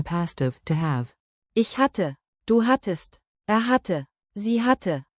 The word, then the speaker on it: hatte: Keep the double T crisp. Hatte, hat test, hat 10.